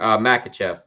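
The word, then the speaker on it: Makhachev: Makachev. Islam Makachev. I said Muslim. Islam Makachev. So let me kill the banner real quick. RDA said that he's injured. Makachev said, I don't believe that you're injured.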